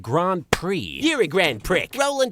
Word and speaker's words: Grand Prix: with the Kaiba Corp Grand Pricks You're a grand prick I think it's pronounced Grand Prix You're a grand prick